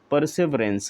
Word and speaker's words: perseverance: ही क्या कहलाता है, परसेवरेंस कहलाता है, या परसिवरेंस कहते हैं, दोनों उच्चारण इसका सही है।